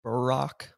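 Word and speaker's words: bierock: after the Nebraska trip, and it's the I guess these things are more like a beer rock. As Ben said, they pronounce it in Wichita Burrock more, Mhm.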